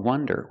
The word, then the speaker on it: wonder: now let's talk about Wonder with the close sound uhw Wonder we have